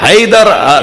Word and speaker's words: حیدر: حیا درہ, حیدر, حیدر, حیدر, حیدر صحیح تلفظ ہوگا حیدر ہوگا. حی سے, حیا سے, حیدر. عرب جب بولتا ہے نا وہ حیدر نہیں بولتا ہماری طرح, وہ کہتا ہے حیدر.